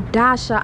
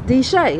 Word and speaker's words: D'Shay: My but I always say Dasha. I don't know. I'm one of them type of people. How I see it is how I pronounce it. And child, no, that is not her company. It's D'Shay.